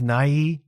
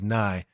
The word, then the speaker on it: Nye: And I always thought it was Na, but he pronounces it himself as Nye.